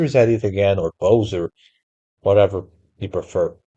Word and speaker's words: Bowser: I pronounced it Bzer when I was a kid. Probably because I'm Portuguese, but I guess in English you're supposed to say Bowser.